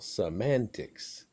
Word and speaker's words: semantics: meanings things like that to correctly pronounce semantics which is a singular noun even though it ends in s a send accent the second syllable semantics in the late 1800s